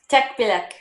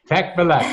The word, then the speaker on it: Tekbilek: Tekbilek. Tekbilek.